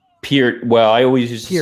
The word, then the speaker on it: Peart: Russia's involvement Neil Peart I'm gonna pronounce it wrong I always say Burt it's yeah peered well I always just